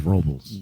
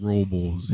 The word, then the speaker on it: Robles: like yes see see everybody here says robbles robbles Rob Rob you're just kind to put like rocks in your mouth robbles yeah I definitely refer